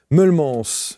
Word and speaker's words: Meulemans: nous en parler, Alexandra Mullems. Je l'ai prononcé à la francophone.